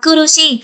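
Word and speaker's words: 苦しい: Đây các bạn sẽ nhớ xem là thừa xi ra ngoài thì sẽ là kurushi, nhưng mà thừa y ra ngoài thì sẽ đọc là nigai các bạn nhé.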